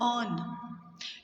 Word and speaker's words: urn: ऑन। URN, इसमें are silent होता है, ऑन।